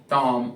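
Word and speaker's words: tomb: आपको नहीं करना है, जैसे बॉम्ब, कॉम, टॉम, ये टूम, बॉम्ब, कॉम, टूम। तो जब भी एम के बाद में बी मिल जाए तो उसका प्रोनाउंसिएशन आपको नहीं करना।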